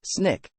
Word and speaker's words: SNCC: meeting the student non-violent Coordinating Committee SNCC pronounced Snick was formed Baker saw